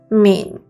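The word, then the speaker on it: 皿: It's pronounced min, which is derived from min.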